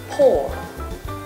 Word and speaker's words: poor: which is often mispronounced remember the litters oh you are pronounced as or not what like sometimes you up and say it alright so remember poor not what dipped Det